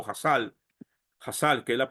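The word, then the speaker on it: Chazal: sabios ya entonces cuando leemos shal o jasal jassal que es la pronunciación es los sabios los sabios nos enseñan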